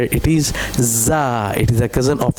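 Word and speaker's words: ز: Okay, it is also za z z sound, like zoo.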